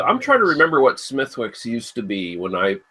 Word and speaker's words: Smithwick's: i had under the smithwick's name and i guess i guess it's pronounced uh smidx apparently if you ask anyone from over the pond yeah potato patrician whatever